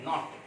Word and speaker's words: knot: KNOT called as नॉट. KNOT यहाँ कैनॉट नहीं बोलते हैं, KNOT. इसको हम K इज साइलेंट, ये जो है यहाँ पे साइलेंट रहता है, इसको हम बोलते हैं नॉट.